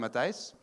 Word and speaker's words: Mathijs: So, hello, I already said hello, I'm Matthijs. Yeah, that's me. That's how you pronounce my name. It's always very difficult for any non-Dutch speaking people.